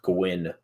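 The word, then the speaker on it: Nguyen: know what's crazy uh the one name i actually do know how to say in vietnamese is that first one there it says pronounce gwyn and that crazy no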